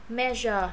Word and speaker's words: measure: Mé rồi giờ nha, chữ giờ có cong lưỡi, không phải là mé giờ nha, không có giờ như vậy được. Measure nó cong lưỡi lên.